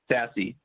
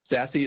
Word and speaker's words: SASE: have a discussion around sassy sassy is spelled s-a-s-e it stands for secure